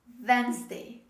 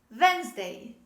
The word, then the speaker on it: Wednesday: very simple this is wednesday wednesday we don't say that next day we don't pronounce the letter d this is wednesday wednesday i'm sure that